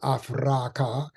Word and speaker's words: Afraka: land now called Africa we prefer to call it afraka three syllables which means the Flesh